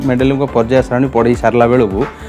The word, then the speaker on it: Mendeleev: मेंडेलीफ बा मेंडेलीव भ मध्य कोटी कोटी भी लिखा जाए कहीं इंग्लिश स्पेलिंग रे तांकर भी रोची। तो भ उच्चारण कले चलो कि ओडिया रे सेटा फ उच्चारण हेले भी किसी असुविधा ना।